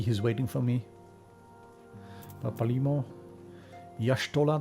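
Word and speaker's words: Y'shtola: waiting for me palimo yashtola they say i've been saying ishtala all the time yeah with the voice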